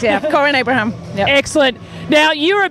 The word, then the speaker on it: Corinne Abraham: Is that how I pronounce it right? Yes, that is correct, yeah. Corinne Abraham.